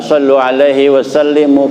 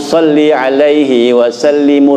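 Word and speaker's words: صلِّ عليه وسلِّم: Sallu alaihi wasallimu. Kata ustadz, ini salah pak baca begitu. Kalau sallu alaihi wasallimu artinya selawatlah kalian gitu. Jadi harusnya bagaimana? Salli wasallimu, salli alaihi wasallimu, salawatku dan salamku padanya gitu.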